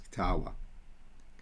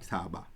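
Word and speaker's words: ܟܬܒܐ: Because this syllable ends in a vowel, and it can, because it's a long vowel, it becomes ktawa. Ktawa, not ktaba.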